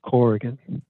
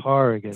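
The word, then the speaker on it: Corrigan: I know a lot of people think it's pronounced Coran actually caran caran cargan I I I I've been glad it slide a lot but I think people should know okay that the real pronunciation is carrian fair enough I only say that Tom out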